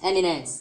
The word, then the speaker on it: eminence: Emian Nenchen.